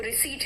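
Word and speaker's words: receipt: यहां पे पी भी साइलेंट है। वो रिसीट है।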